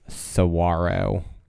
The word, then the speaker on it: Saguaro: What is Saguaro? Correct. So in this category, all the answers had a silent G, but there was you had W alliteration. W alliteration because it is a W sound. Right. Saguaro.